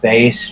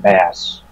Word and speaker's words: Bass: is pronounced base because it's supposed to be base like the instrument or like the musical